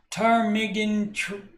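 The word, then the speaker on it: ptarmigan: right this from tarm I'm assuming the p is silent termigan tarmigan Ridge Trail uh um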